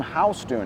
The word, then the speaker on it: Houston: Street which actually got its name from William Houston that's why it's pronounced Houston by the way uh you know